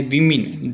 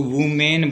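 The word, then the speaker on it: women: इसका जो प्रशिक्षण है इसका उच्चारण है उसको थोड़ा सा ध्यान दें क्योंकि ज्यादातर इसको रूम मैन बोलते हैं तो यह रूम में नहीं है इसका जो करेक्ट प्रनंसीएशन है वह विमेन and older मेन एंड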